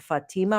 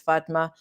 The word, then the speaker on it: Fatma: I think they've been saying Fatima or something along those lines, but I think the proper pronunciation is Fatma.